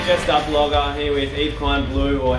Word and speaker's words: Yves Klein Blue: here just up vogg here with Eve kin blue or how would you like to pronounce it guys e kin blue yes done we're in Adelaide guys was your